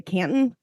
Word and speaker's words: Canton: So this case is coming to us out of, am I pronouncing it right when I say Canton?